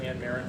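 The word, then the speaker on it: Anne Marrin: And I'm going to introduce Village Administrator Ann Marin from the Village of Fox Lake, who wishes to read a statement.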